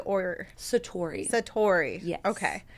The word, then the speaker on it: Satori: know the journey to the studio is it pronounced satari or Satori Satori okay it's it's nice that you even